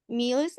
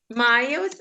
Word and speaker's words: miles: Meals a week. Да, тільки не meals. Yes. Що таке meals? Милів. Miles a week, that's right. Miles. Вимовляється miles, that's right.